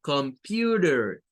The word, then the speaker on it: computer: Entonces, esta palabra, nótese que aquí, miren, en la O y en esta E, se hace el sonido schwa de vocal. Y esto debe de sonar como computer, computer, computer. Ahí es donde nosotros escuchamos como que suena una I, vea, acá, pew, pero es el U, pew, computer, computer.